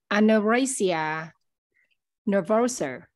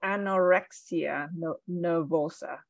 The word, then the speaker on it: anorexia nervosa: the the word for for us so um aneurysia nervouser yep so anorexia nervosa I know I know rexia nervosa excellent all